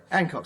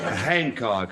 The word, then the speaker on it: Hancock: get rewarded all right ancock the name H he hen C ho c k the H is pronounced and anybody who says it ain't is ignorant Handcock address well actually I've